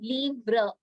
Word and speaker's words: livre: No, you have to pronounce it as le livre. R sound should come at the end. We don't pronounce the E letter.